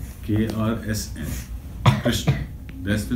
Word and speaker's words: Krishna: The real pronunciation is one syllable. K-R-S-N, Krishna. K-R-S-N. Krishna, that's the name.